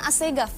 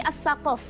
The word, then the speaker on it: Assaqof: asal katanya Sebenarnya bukan Assegaf tapi assaqof assaqof karena orang Yaman susah mengucap kata ee huruf qf maka mereka mengganti huruf q itu menggunakan huruf gho jadi asghf seperti itu jadi itu sebenarnya perbedaan pengucapan saja sih Mbak b sama